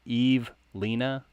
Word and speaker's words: Evelina: Is it Evelina? Evelina P? It's Eve-Lena P. Eve-Lena. Let's see.